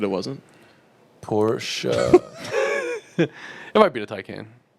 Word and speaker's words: Porsche: maybe i'll interchange it sometimes but it's it's porsche yeah it is whatever uh i just asked